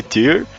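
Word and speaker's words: Tyr: a sugestão, eh, recomendou The Legend of Tier, acho que é assim que se pronuncia. Ele diz aqui que T R é TY R Tier.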